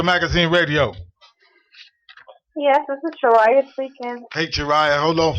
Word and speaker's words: Chariah: So, Chiara, baby, how they treating you out there these days? I'm good. And actually, the correct pronouncing is Chariah, but they're treating me very Well, let me know it then, Chariah.